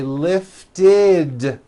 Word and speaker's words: lifted: If a word ends in a T or a D sound, we add the ending id, which is a vowel I, followed by a D, which is voiced. Id. So for example, the word lift. Lift ends with an unvoiced T. Lift. So today I lift the ball. Yesterday I lifted the ball. Lift becomes lifted.